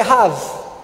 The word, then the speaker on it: Raabe: O nome dela é Raabe. A pronúncia em hebraico é Rav.